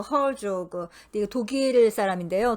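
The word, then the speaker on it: Herzog: 누가 썼냐면은 에드가 헤르조그, 헐조그. 이거 독일 사람인데요. 독일식으로 발음하면 헤르초크라고 합니다.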